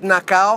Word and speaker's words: Nação: The other track is a cover by João Bosco, and it's called Nação. A lot of people are gonna pronounce it Nacau. I don't mind, call it what you want.